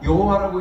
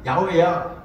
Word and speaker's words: 야훼: 이 단어 발음이 원래 여호와가 아니고 이거는 아도나이를 읽으라고 붙여놓은 모음보호야. 그러니까 여호와라고 읽으면 안 되고 진짜 모음보호를 붙이면은 야훼야 이런 식으로 해가지고 야훼라는 단어가 나오게 됐다.